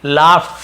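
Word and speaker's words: laugh: करीम लाफ करीम हंसा यहां पर लगड नहीं पढ़ेंगे लाफ फ ऐसे लाफ लाफ्ट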